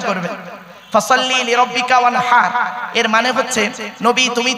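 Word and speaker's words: وانحر: High হুতি, ওয়ানহার নয়, high হাওয়াজ নয়, high হুতি। এই গলার ভেতর থেকে এটা উচ্চারণ করবেন, ফাসাল্লি লিরাব্বিকা ওয়ানহার।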